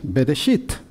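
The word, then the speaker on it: בראשית: Esto es una letra Bet, sonido de B, por eso el puntito que hay dentro significa que suena como B, no como V.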